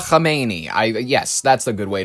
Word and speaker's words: Khamenei: Mojtaba Khamenei. Yes, that's a good way to pronounce it.